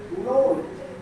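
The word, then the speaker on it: known: इसके बाद आपका नोन। के बाद क्या आया हुआ है? एन। तो के क्या रह जाएगा? साइलेंट।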